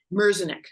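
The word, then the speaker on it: Merzenich: to us yeah yeah uh you referenced Dr meznick is that how you pronounce it mercenic mercenic you you reference um Dr mirzanick many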